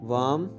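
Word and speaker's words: warm: वार्म, गरम। Friends, इसमें are silent है। ओके, आपने इसे वार्म नहीं वार्म पढ़ना है।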